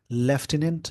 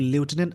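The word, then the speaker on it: lieutenant: between the लेफ्टिनेंट governor इसको लिटनेट American English में बोलते हैं ऐसे लेफ्टिनेंट बोलते हैं इसकी स्पेलिंग जरूर याद रखेंगे लेफ्ट टट मतलब डेप्युटी होता है जैसे कि इस वर्ड को अच्छे से समझ लेंगे लूटने भी बोलते हैं लेफ्टिनेंट भी बोलते हैं तो लिटनेट अमेरिकन इंग्लिश में ब्रिटिश में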